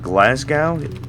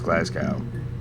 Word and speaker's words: Glasgow: glass glassgow was it glassgow it's glassow there we go so